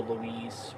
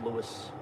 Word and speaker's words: Lewis: if your name Lewis Lewis or Louise well there's no e at the end so it's Lewis but yeah anyway I